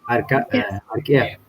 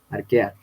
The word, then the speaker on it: Archaea: ya, arquea. Eh, o sea, Pues, sí, está bien. Esa es una forma de pronunciar del latín, ¿no? Cuando tienen CH, es como si tuvieras una K, arquea.